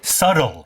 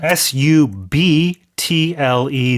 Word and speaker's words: subtle: They're being very subtle. Uh, s u b t l e. That b is silent.